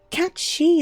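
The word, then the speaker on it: Cait Sith: Cat she is apparently the correct pronunciation. Ah, but you've always said Kate Cif.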